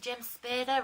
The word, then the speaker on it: James Spader: But they even got, was it James Spader, rhymes with Darth Vader?